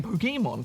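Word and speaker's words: Pokémon: I've got to admit there is a bit more of a an a sound to it kind of like a halfway between poke e and poke a so I'm not sure I mean probably both are acceptable oh well fair enough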